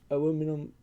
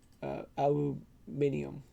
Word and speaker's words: aluminium: now i think of the two different uh spellings and pronunciations aluminum or aluminium and it it screws